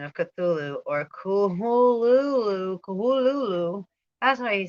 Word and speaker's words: Cthulhu: Lovecraft transcribed the pronunciation of Cthulhu or Kuhululu. That's why he said it like that. Kuhululu. Oh, it's funny. And said the first syllable pronounced gutturally and very thickly.